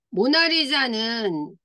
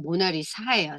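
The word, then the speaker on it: Mona Lisa: 모나리자는 잘 보세요. 여기 지금 작가가 누구예요? 레오나르도 다빈치. 레오나르도 다빈치예요. 이름이 뭐예요? 모나리자. 아, 우리는 모나리자라고 얘기하는데요. 원어민들이 발음할 때는 모나리사예요. 사. SA예요. 사. 모나리사.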